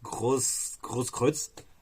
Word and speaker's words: Grosskreutz: On a aussi du Kevin Grosskreutz. J'espère que je le prononce bien aussi. Hein. Enfin, désolé de la excusez-moi hein, si j'ai mal prononcé, mais ça se dit Grosskreutz. Grosskreutz.